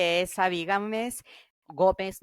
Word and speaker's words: Gómez: Gómez, not Gámez.